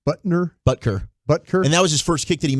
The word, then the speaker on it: Butker: So now it was because of it wasn't just the kickers being, but Buckner, I say his name wrong, Butker.